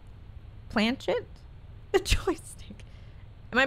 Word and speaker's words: planchette: to move around does that have a name planchet the joystick am i pronouncing that right planchette the condom jillian prey the game will stay kate planchette and shut up not pancetta okay i guess we're gonna